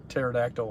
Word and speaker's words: pterodactyl: apparently i told the pterodactyl one too because mary jo just said the p is silent yes how can you